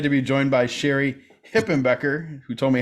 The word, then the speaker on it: Hipenbecker: Brookman I'm excited to be joined by Sherry hippen Becker who told me how to pronounce that correctly thank you keep the hippen Becker in there properly thank you call me Mrs